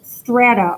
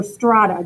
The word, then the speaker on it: strata: In this case, the entire population is divided into groups that are called strata or strata, depending on how you want to pronounce it.